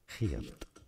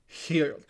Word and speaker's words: Geert: In Dutch, Geert. Geert.